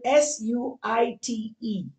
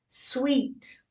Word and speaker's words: suite: How do you spell S-U-I-T-E? S-U-I-T-E. That's not suit. Please don't call it suit. It's sweet. Rhymes with what you love eating, all that sugary stuff.